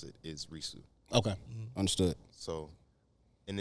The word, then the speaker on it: Risu: Well, the English way to pronounce it is Risu. Okay, understood. So, and it sounded like Reese, and I was like, nobody's gonna know.